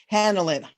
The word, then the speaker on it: Hanlin: We are doing a group healing with our beautiful Hanlin, right? Is that how you say it? H-A-N, Hanlin. Hanlin.